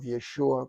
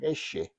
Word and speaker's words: Yeshua: So, again, you know, in those places they could not pronounce the name of Yeshua correctly, so they call him Isha or Ishi.